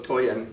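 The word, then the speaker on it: Tollan: from the Aztec name the Aztec name for Thule is toyan so toyan rhymes with Oyen and the people we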